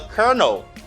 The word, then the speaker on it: colonel: different than its pronunciation you say kerr no colonel the colonel nella the kernel instead of saying the colonel no they they don't say that you say the kernel the kernel you see